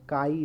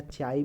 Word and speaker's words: chi: ऐसे ले जाओ, ऐसे ले जाओ, इस तरीके से कर दो, इसको काई, CHI, काई, या चाई भी बोलता है बहुत कोई, लेकिन सही इसका प्रोनाउंसिएशन काई होता है।